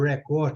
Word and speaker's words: record: eu quiser falar record, quando eu quiser falar o verbo record, que é o verbo gravar, eu vou lembrar do português, que é a sílaba forte, verbo. Vou anotar isso. Anota isso aí, que isso é importante. Entendeu, Gislane? Sílaba forte no final.